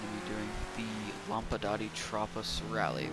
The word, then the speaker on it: Tropos: This time we're going to be doing the Lampadati Tropos Rallye, which is actually pronounced Tropo.